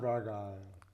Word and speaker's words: Rhaegal: Rhaegal or whatever. Rhaegal is green, and that's what John's gonna end up So I was riding. right on that one. It's pronounced Raga.